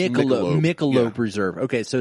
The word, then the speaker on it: Michelob: Is it Michelone? Michelone Reserve? Michelob. It's pronounced Michelob.